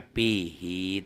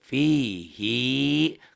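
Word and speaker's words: فيه: Hi dalam kata pihi tersebut mesti dibaca panjang walaupun yang sebelumnya itu mati. Mad mubalaghah ini ya, tekanan suara pada hi.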